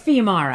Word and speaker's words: Fiumara: How do you pronounce that? It's Fiumara. Fiumara.